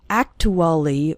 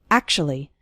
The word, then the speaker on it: actually: of the word actually we don't say act to Ollie or something like that we say actually is actually then we